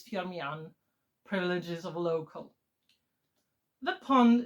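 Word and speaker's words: Firmian: And yes, the pronunciation of the of the surname is Fiaman, privileges of local.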